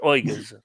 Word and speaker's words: Uyghurs: I'll have to learn to pronounce Uyghurs. Uyghurs, yes.